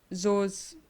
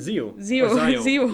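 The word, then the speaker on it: Xio: would want the subplot to focus more on Zo's... I don't like that. How do you say it again? Zeo.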